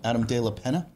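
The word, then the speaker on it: Adam de la Peña: I don't want to pronounce it wrong. Adam De La Pena.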